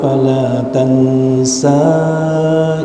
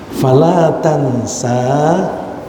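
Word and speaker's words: فَلَا تَنْسَىٰ: ya membacakan al-qur'an kepadamu Fala Tansa maka kamu tidak akan lupa hati-hati kita membacanya Sanya panjang Fala Tansa bagi yang mempelajari bahasa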